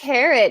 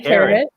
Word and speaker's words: Karat: all right it's actually i think it's pronounced carrot am i it isn't right here i did it and yeah i didn't want to jump in but no that's okay it's definitely carrot you know it's all